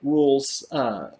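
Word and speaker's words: Rhule: is it rule design you say it like it's rule right yes cousins was ja Rule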